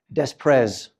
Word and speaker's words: des Prez: the name of Josquin des Prez, or as my students sometimes call him, Desprez. He was Franco-Flemish, and it is indeed pronounced des Prez.